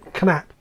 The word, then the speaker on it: Knapp: How do they pronounce it? Knapp. Yeah, Knapp. It's George Knapp.